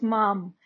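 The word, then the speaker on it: Mallarmé: double l a r m e but the pronunciation is mom stephen mom m a double l a r m e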